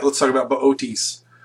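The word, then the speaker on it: Boötes: All right, let's talk about Bootes. Bootes, again, not pronounced boots, is the herdsman.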